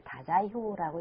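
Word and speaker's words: 大宰府: 그리고 그때 이제 그 큐슈 지방에 있었던 것은 그 일본 남북조 대립에서 이제 남조 쪽에 있었던 그 한자로는 태지부라고 쓰고 그 일본으로어로 이제 다자이후라고 읽는데 거기에는 이제 그 일본의 이제 본건 정권인데 사실은 이때이 외구들 즉 해적들은이 남조 정권하고 관계가 있습니다.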